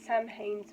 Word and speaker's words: Samhain: If I don't think before I speak, so I read it Samhain. It's actually Samhain, because it's pronounced differently.